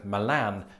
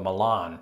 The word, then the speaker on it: Milan: And the funny thing is about this entry, Brits and Americans can't even agree on how to pronounce the Italian version of the city, with Brits like me saying Milan and Americans usually opting for Milan.